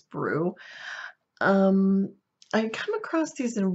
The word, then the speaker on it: Broo: I believe, I think that is how you spell it, or you're supposed to pronounce it is Brew.